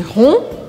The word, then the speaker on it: rond: Se você for mais redondinho ou redondinha, je suis rond. Je suis ronde, sem pronunciar o D no masculino.